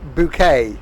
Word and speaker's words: Boca: go change it to it's pronounced bouquet sam right 1.8 miles to